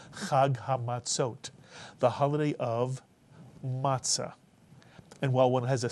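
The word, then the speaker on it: מצה: Two-syllable word, matzah. Many people say matzah. That's okay. But the way to pronounce it in Sephardic Hebrew would be matzah.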